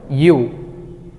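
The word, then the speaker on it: ㅠ: দুইটা দাগ অ্যাড হয়েছে এইটাকে কোরিয়ানরা বলে ইউ ইংলিশে বর্ণমালা ইউ এর মত উচ্চারণ হবে ইউ এরপরে একটি লম্বা দাগ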